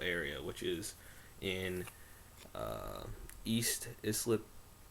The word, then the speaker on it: East Islip: which is in uh, East Islip, New York, I believe is how it's pronounced.